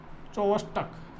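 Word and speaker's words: Chvostek: ठीक, ट्राउजिस sign and इसमें सी silent रहता है, सी साइलेंट रहता है, वोस्टक इसको ट्राउजी साइन।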